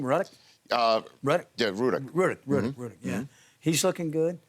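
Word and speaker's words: Rudock: Yeah, Ruddock.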